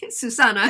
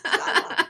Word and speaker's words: Susana: It is, but it's pronounced differently. Susana. Yes, Susana.